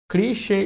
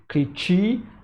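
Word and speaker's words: cliché: here is the word cliche cliche is a correct pronunciation from this word and if students have not seen this before they might be tempted to pronounce this as clicky or creature right so this helps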